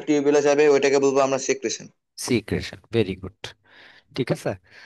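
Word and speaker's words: secretion: এন্ড লেখছে এক্সক্রিশন, এটা কাটো, দেখো সিক্রেশন। সিক্রেশন, উচ্চারণ হচ্ছে সিক্রিশন।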